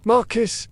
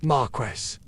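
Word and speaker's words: marquess: Marcus is not Marquest.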